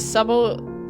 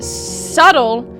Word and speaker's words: subtle: He says with a suble subtle I was like subtle. Why is it spelled like that though? Why is it Why is subtle spelled with a B. Where's the B? Nowhere.